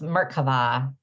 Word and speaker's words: Merkava: Is it Merkava, or do I say it differently? It's Merkava. Merkava.